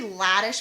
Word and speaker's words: Hladish: So welcome to the show, Hladish. Is that how you pronounce the last name? It's actually Hladish with a Hladish? silent H. The H is silent.